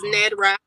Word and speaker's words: Ned'Rah: your name right the last name is nedra nedra okay okay and of